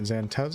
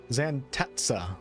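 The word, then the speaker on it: Xantezza: Zantez. Zantets, goddess of imps, mirth, and laughter. Something tells me she's not laughing now. Zantetsa, that's the correct pronunciation.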